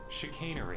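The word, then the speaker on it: chicanery: Chick canery has a long a sound. You know what? Let's look it up. Why does this feel like this line was meant to be sexy? Chicainery.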